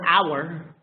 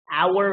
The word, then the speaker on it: hour: uh like the word hour hour is with an H but it's silent so sometimes but nine